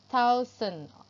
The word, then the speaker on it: thousand: อะไร วัน เท่า ซึม thousand เอา ลิ้น ออก มา แตะ ให้ อยู่ ระหว่าง ฟัน บน และ ฟัน ล่าง นะ คะ แล้ว ออก เสียง ค่ะ เทา เซอร์ อา เทา